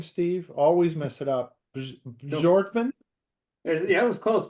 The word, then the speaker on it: Bjorkman: Bjorkman. Yeah, it was close. Bjorkman. Yep. Bjorkman. Sort of like it's spelled.